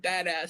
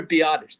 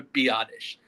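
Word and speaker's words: Biadasz: I was have I was saying badass so much on last episode. It's Tyler Biottish. the center. That is his name. It's Tyler Biottish. Not badass.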